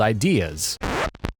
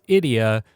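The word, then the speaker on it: Ideya: of these things called ideas alright so little interjection from editing nick the word is actually pronounced idiot and it's actually a take on the tagalog word for idea so i'm kind of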